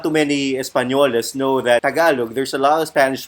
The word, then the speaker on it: Tagalog: You pronounce it as Tagalog.